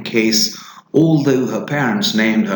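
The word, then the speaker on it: Cayce: Cass Pollard, a 32-year-old woman who lives in New York City, she pronounces her given name Case.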